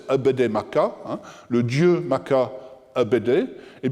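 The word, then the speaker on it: Apedemak: Enfin, le nom du créateur dont nous avons parlé tout à l'heure, qui est Apede Maka, prononcé Abede Maka, le dieu Maka Abede,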